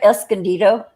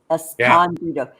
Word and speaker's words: Escondido: But the city of Escondido. Yeah, I was just going to say that. Yeah. Michael Omnieris, one of his people that he talks about lives down there, and he always pronounced it Escondido. Escondido.